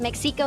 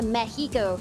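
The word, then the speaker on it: México: the city of Mexico and yes you don't pronounce it as Mexico it's a Mexico so exactly how you pronounce all the cities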